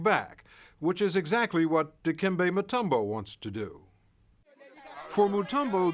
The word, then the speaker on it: Dikembe Mutombo: We have one of the greatest basketball players of our time, Dikembe Mutombo. Did I pronounce that pretty close? Yes, it's Dikembe Mutombo, Polando Mukamba, Dikembe Mutombo.